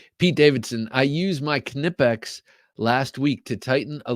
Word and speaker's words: Knipex: use for appliers now knipex I'm I'm assuming that they are uh German and I do know that you pronounce the k so that's what makes